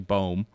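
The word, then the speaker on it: Böhm: The reason I'm mispronouncing her name, it's actually Bohm, is because that's like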